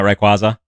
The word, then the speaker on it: Rayquaza: how do you pronounce 1111 1111 Rayquaza what I've been wrong for 23 years that's me right now pronouncing it Rayquaza all right chat I